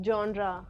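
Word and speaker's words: genre: anyway what जेंडर movies do you like it's जनरा जी ई एन आर ई इज नॉट जनर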